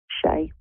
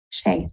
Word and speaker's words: Shay: is his dad's name Shay Shay okay perfect the one syllable s okay perfect okay um